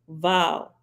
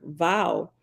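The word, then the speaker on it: Vav: as any English letter but it's closest to a cross between V and W if you put your two Center most top teeth two inches below your bottom lip inside your mouth you say vowel you will notice that the V comes out as a sort of mix between V and W that mix is the actual sound of the Hebrew letter vowel and that is why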